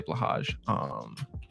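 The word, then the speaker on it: Blåhaj: have my captions say Blahaj. Try Blahaj. Blahage? Blahaj. Blahage. Blahage. Blahaj. Sadly, no. Blowhigh is the proper Swedish pronunciation, according to Mr. Lifford.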